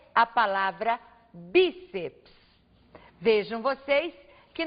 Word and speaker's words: bíceps: palavras é a palavra bíceps vejam vocês que nós temos aqui a sílaba tônica sendo a penúltima sílaba da palavra portanto a palavra bíceps é uma palavra paroxítona